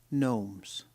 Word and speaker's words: gnomes: I hate garden gnomes gnomes not good gnomes silent G keep calm calm not